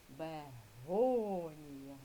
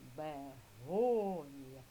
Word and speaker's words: бегонія: Визначаємо, діти, наголошену. Поставили ручку всі. Бегонія. Бегонія. Наголошений склад го. Другий склад над голосним. О.